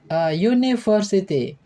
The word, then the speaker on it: university: University adalah kata benda yang diawali dengan huruf vokal U, tetapi dibaca U, university, sehingga harus diikuti kata sandang A.